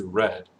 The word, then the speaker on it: read: made this one's interesting read the spelling is the same but the pronunciation and the past participle is red read read we have